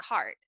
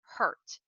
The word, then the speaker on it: heart: inside of your classroom the correct pronunciation of heart sounds like heart this is going to be an excellent source to use when we are trying to get across our feedback to our students make sure that you don't pronounce it like hurt which means when you feel pain the difference between these